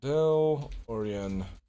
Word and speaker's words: DeLorean: you spell that Dill oh it's Dell Dell orian Omega oh yes see here